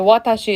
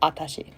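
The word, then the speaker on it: 私: Normally the phrase is atashi. The watashi is how you spell it, but a lot of people will drop the wa and they'll just go atashi.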